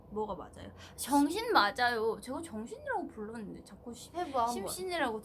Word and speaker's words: 정신: 근데 심신이라고 생각해서 그렇게 생각하면 그렇게 들릴 수도 맞아 있어요. 원래 근데. 그래. 근데 정신이요. 이번에 제가 신경 써서 해볼게요. 근데 진짜 정신이라고 부르는데 발음이 안 좋을 수도 있어요 제가.